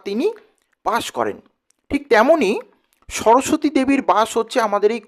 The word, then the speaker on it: সরস্বতী: তো তিনি, তার যে নাম যে সরস্বতী, প্রকৃত উচ্চারণ হচ্ছে সরস্বতী। তো আমরা ওইটিকে চলতি ভাষাতে কিন্তু সরস্বতী বলি। তো এই সরস্বতী শব্দের মানেটা